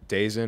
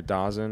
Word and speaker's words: DAZN: I think there's some issues right now with um Dazn or Dosen or whatever with Dazn, sorry.